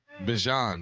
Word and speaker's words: Bijan: Bijan. That's how you say it, too. Bijan. People say Bijan. Bijan sounds like Dijon. Yeah. What if that is how you say it? No, it's Bijan. Bijan. I heard him say it.